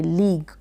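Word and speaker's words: league: होता है उसको बोलेंगे लीग। क्लियर हो गया यहाँ तक आपको। यहाँ पर आपने सीखा जी के बाद में यू आएगा, तो यू जो है क्या रहेगा, साइलेंट रहेगा, जी के बाद में यू आएगा।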